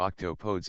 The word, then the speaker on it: octopodes: The correct would be either octopuses or octopodess and that's pronounced as octopod like octopod nuts.